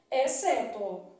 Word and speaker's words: exceto: isso que é oscilante na palavra exceto o x não é pronunciado então na palavra exceto XC formando aqui dígrafo é exceto uma dígrafo na palavra